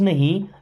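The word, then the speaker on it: know: मीस मैं डोंट मीस नहीं नो इस वर्ड में के साइलेंट होता है ना आई डोंट नो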